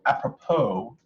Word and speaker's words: apropos: oh there's no ads the S is silent help that's easier for me to second okay so how apropos it's just low so